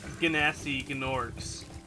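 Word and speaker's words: Gnasty Gnorc: Except for Ganassi Gnorcs. That is the proper pronunciation, you can find me otherwise.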